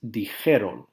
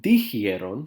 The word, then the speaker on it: dijeron: Dije, dijiste, dijo, dijimos, Dijistes, dijeron. Not dijeron, which just sounds weird. Dijeron. It's just a pronunciation thing.